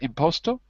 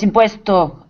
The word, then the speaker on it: impuesto: Is it imposto? Yes, impuesto ends Impuesto.